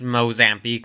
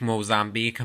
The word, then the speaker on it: Mozambique: fix it can be pronounced Mozambique Mozambique Mozambique you can pronounce with any of those ways I heard them pronounce many different ways and there's no official one and oh are you